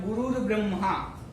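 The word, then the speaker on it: गुरुर्ब्रह्मा: क्या उच्चारण है यहां गुरुर ब्रह्मा गुरुर देखव्वो है यह उसके ऊपर एक यह कि आधा गुरु के बाद रॉ बोलना है जो अलार्म गुरु ब्रह्म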